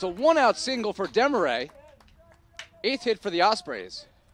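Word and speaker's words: Demarrais: So the new second baseman, Garrett Demaray, even though it's spelled M-A or D-E-M-A-R-R-A-I-S, it's actually pronounced like the French way.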